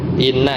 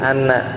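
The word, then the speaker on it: إنّ: kalimat jadi pasti Inna Kalau di awal kalimat enggak mungkin Anna ya pasti Inna contohnya Inna ya di surah alqadr inna anzalnahu ya inna anzalnahu fi lailatil Qadr jadi di awal kalimat dibacanya enggak mungkin Anna Anna Anna anzalnahu tapi Inna pasti ya itu pertama Kemudian yang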